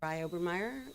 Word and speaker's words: Sarai Obermeer: My name is Sarai Obermeer. It's spelled S like Sarah. A R AI. Last name Obermeer. OB is in Boston. E R Mer.